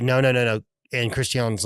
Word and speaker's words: Christian: It sounds so weird saying his name, because they make it very important to, like, his name is not pronounced Christian, it's Christian. I think there's a reason for that I'm gonna say once you finish revealing what's about to happen.